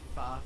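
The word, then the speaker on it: phở: Pho. Pho soup. Not Vietnamese soup. not F-A-U-X. No. It's actually pronounced pho, but all the white people say pho.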